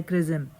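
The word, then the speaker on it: XRISM: launch किया गया है क्रिज्म एक्स आर आई एस एम ये ऐसे प्रोनाउंस होता है क्रिज्म जो कि एक नेक्स्ट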